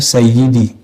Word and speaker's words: Sayyidi: Kalau dia orang Arab yang fasih, bacanya Sayyidi. Sampai dalam dialek harian jadi CD. Bukan CD celana dalam, bukan CD yang diputar jadi kaset, bukan. CD. Bacanya ada tekanannya. CD.